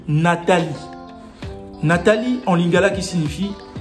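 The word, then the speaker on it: Natali: Et se dit Nathalie. Pas Nathalie, Nathalie.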